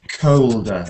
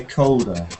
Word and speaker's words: colder: Yeah, that's interesting, that one, because with the L, you don't usually hear it pronounced so much like an O. When you have an L after the O, it gets softer halfway. Like people don't say colder, they say colder, and it's like halfway to the.